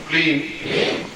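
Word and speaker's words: क्लीं: जाग्रय महामृत्युंजय ह्रीम श्रीम क्लीम फट। इसमें प्रत्येक में म ध्वनि आई है, जानते जैसे क्लीम श्रीम रीम। और जिनको नहीं आता अंग्रेजी में लिख के भी टांग देंगे कि उच्चारण कैसा होना है।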